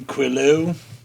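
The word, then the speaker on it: Quilo: right um I I'm quo um q u i l o same as the uh Greek uh name for the winds um if that helps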